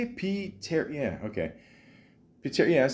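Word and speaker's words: Pterri: Piteri, yeah, okay.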